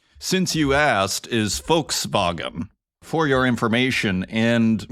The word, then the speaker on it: Volkswagen: English-speaking people call it the V is an f and the W is pronounced like a v in German so actually the German pronunciation since you asked is folks vagen for your information and